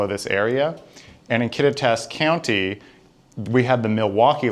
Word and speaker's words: Kittitas: So, the director of the museum has actually informed us the pronunciation is Kittitas and that is named after the native people of this area. And in Kittitas County, we have the Milwaukee line, which is